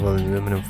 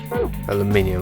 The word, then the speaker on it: aluminium: A large roll of aluminum foil. Aluminium, I mean. A proper pronunciation of that word.